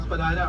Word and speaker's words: Spadina: Right, so one of the, but both pronunciations are correct, guys. Feel free to call it Spadina or Spadina.